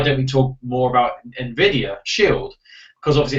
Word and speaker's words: Nvidia: is nid nid how do you say it Nvidia Nvidia Nvidia Nvidia yeah Nvidia Shield got on stage